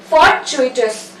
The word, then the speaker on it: fortuitous: Fortuitous. TU को हम चू बोलेंगे, fortuitous.